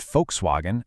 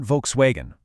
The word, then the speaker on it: Volkswagen: And it's actually pronounced like an English F. This is exactly why that famous car brand is pronounced folkswagen and not Volkswagen.